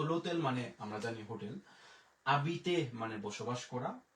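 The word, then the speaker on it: habiter: এরপরে এখানে হাবিতে বলবো না, এখানে আমরা আ জন্য হচ্ছে আ, বে ই বি, তের জন্য ত, ও এর উচ্চারণ একার, আবিতে, আবিতে।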